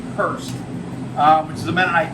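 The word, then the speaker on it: Hors: uh it's pronounced H it's spelled h o r s it's pronounced Hurst um which is a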